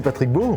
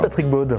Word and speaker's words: Patrick Baud: Et tu l'as mal prononcé, pour commencer c'est Patrick Baud. Oh là là. Tu as dit Patrick Baud.